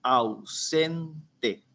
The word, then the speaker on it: ausente: Y en el caso de ausente, en la A y la U, sí hay un diptongo. Ahí sí se configura un diptongo, que es ausente. Entonces, la palabra ausente tiene 3 sílabas.